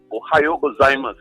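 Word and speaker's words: ohayō gozaimasu: The right way is Ohio gozaimasu.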